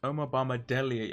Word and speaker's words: Omobamidele: So we have to keep an eye on him, and that's Omobamidele, I think is how you pronounce his name.